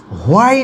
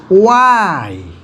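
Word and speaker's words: why: এটি হোয়াই না, ওয়াই, ওয়াই, হয় না কিন্তু। এটি হোয়াইল না, ওয়াইল, ওকে, ওয়াইল। হাউ, হু এবং হুম সাউন্ডগুলো ঠিক আছে, প্রনাউন্সিয়েশনটা ঠিক আছে আমাদের, কিন্তু which, when, war, ওয়াই, while exact যে সাউন্ডগুলো কিন্তু আমরা এখানে সবগুলোতেই হ উচ্চারণ করি, যেটি হ উচ্চারণ হবে না।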